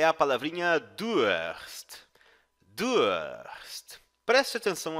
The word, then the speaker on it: Durst: Durst. Preste atenção à sua pronúncia.